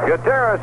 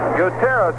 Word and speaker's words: Gutierrez: in there one ball two strikes actually this guteras we're calling him g-u-t-i-e-r-r-e-z he would pronounce it Gutierrez with the eye here's a